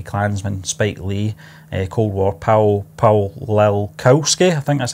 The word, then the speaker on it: Paweł Pawlikowski: is Black Khaki Klansman, Spike Lee, Cold War, Paweł Pawlikowski, I think that's how you say it. Paweł Pawlikowski.